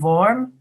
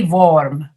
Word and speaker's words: warm: and warm you know typically slavic speakers will say it was very vorm all v sounds because you don't have the w sound in your language and how you can change that is to just go uh it was very warm warm warm warm warm warm